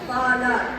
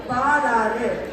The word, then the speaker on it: பாலாறு: இது மட்டுமல்ல, முல்லை பெரியார் அணை, பாலார், கயத்தார் என்று தமிழை கொச்சைப்படுத்தி வருகிறோம். முல்லை பெரியாறு, பாலாறு, கயத்தாறு என்ற உகர ஓசையுடன் தான் நாம முடிக்கணும்.